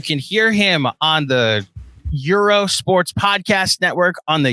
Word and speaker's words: Gyro: places in the city it's pronounced Euro in different parts of the country love how this podcast